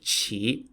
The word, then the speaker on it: Qi: was an aristocrat in the Kingdom of chi spelled Qi during the early 3rd